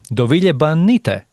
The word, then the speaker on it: Dovile Banyte: And today we have no one else than the senior manager of global brand strategy at Polaroid, Dovile Banyte. Yes. Am I pronouncing it right?